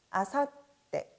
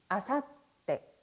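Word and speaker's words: 明後日: 아사떼, 아사떼.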